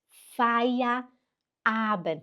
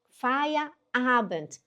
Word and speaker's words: Feierabend: Esse e i no alemão, né, que você vai ver faia. E i faz som de e o er faz som de a. Aí fica fia, né? Fia. Aí quebra e fala avent. Fia. Avent. Tenta aí. E a sílaba forte é no a.